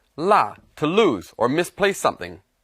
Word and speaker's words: 落: Now this character can also be pronounced luo, but here it's pronounced la, to lose or misplace something.